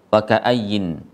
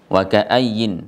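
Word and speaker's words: وَكَأَيِّن: Aslinya adalah tanwin, sehingga mereka ketika waqaf membacanya wa ka'ayy. Wa ka'ayy. Ada juga yang waqaf ala rasm, yaitu waqaf sesuai yang tertulis. Karena yang tertulis adalah huruf nun, maka waqafnya dengan nun.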